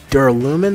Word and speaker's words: duralumin: that duralumin faces well oh it's duralumin that's how you pronounce that not the rule IAM he